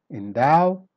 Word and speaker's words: endow: endow start weak then become strong endow fend impunity stress